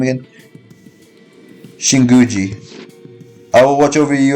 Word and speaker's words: Shinguji: Shinguji.